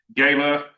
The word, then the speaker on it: gala: On June the 6th, we're going to have a gayla uh as it's pronounced in the south. The mayor reminded me, not a gala, a gayla here in the south.